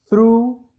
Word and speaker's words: through: That's why we add s to the verb, because he looks through the window glass. Through. G-H at the end of this does not pronounce, it's silent.